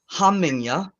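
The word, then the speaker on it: hamingja: then we have the hamanya uh it's h-a-m-i-n-g j a sohamming ya the J is a y sound so it's not homing um so this sounds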